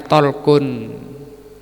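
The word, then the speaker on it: Ṭalq: bernama thq bin Habib lamnya disukun jadin bacanya thquun namanya nama orang ini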